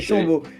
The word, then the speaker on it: Chambaud: D'ailleurs, on dit Dylan Chambaud, sachez-le. Oui, c'est Chambaud. J'avais fait l'interview en début de saison aussi, je savais pas, je connaissais le joueur, mais je savais pas comment le prononcer. C'est Dylan Chambaud.